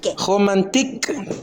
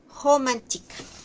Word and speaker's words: romantique: Todo lo que termina en Ike es i no romantic.